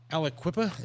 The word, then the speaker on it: Aliquippa: But we went to Aliquippa, is that how you Yes.